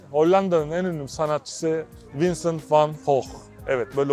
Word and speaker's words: Van Gogh: Şüphesiz ki Hollanda'nın en ünlü sanatçısı Vincent van Gogh. Evet, böyle okunuyor ismi.